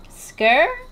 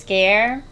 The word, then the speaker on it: Sker: more made of scare skir i said scare i think it's pronounced scare i think elizabeth did say that in the beginning she was like scare island and it just